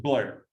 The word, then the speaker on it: Bel Air: to go over to Bel Air uh they pronounce it Blair up there by the way and uh this is